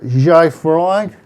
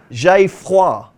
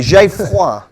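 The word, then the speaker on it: J'ai Froid: And in the 4:35 at Carlisle, there's a horse that I'm going to struggle to pronounce. I'm going to call it Jai Fried for Ben Case and Max Kendrick.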